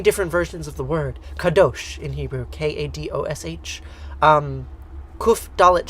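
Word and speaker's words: קדוש: Kadosh in Hebrew, K-A-D-O-S-H.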